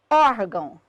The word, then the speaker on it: órgão: Órgão, or. Sílaba tônica é a penúltima, terminada em ião, acento obrigatório.